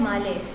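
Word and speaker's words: Malé: और मालदीव्स का कैपिटल है माले, जैसे मेले भी कुछ इस तरह प्रोनाउंस करते हैं।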